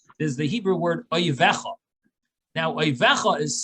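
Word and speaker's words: אויביך: is the Hebrew word oivecha. Now, oivecha is spelled with 2-letter yuds, which means plural. But the way it's read it's read oyivcha.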